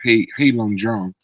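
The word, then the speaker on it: Heilongjiang: he's from Harbin or they pronounce it as hey Jang which is translation black dragon river which is close to Russia north of Beijing for people that may not know.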